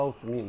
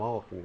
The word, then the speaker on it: Alckmin: Até esse José Maria Alckmin, a gente fala Alckmin, agora estão pronunciando Alckmin, mas José Maria Alckmin, que foi ministro, etc., ele é da nossa família.